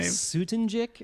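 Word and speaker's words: Soutendijk: And Well, like, especially when you cast Renee Sutendig, I can't say her last name. Sutenjik, I think. it's Sutenjik, pronounced.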